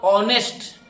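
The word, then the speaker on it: honest: आपने क्या बोला? ऑनेस्ट। ऑनेस्ट बोल रहे हैं तो ओ आ रहा है, यानी उच्चारण करते समय जो साउंड आ रहा है वो ओ आ रहा है।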